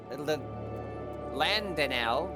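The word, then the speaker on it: Landenel: I have heard Captain Landanel, there we go, that's the right pronunciation, regaling you with many tales of his youth.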